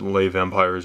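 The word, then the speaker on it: Les Vampires: I say less vampires I would said lay vampires or something so it's lay vampir if I'm not mistaken thank you my YT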